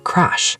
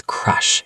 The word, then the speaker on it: crush: You said crash, like a car crash. Oh, no. That sounds dangerous. It does. The word is crush. It has a short u sound like up or bus.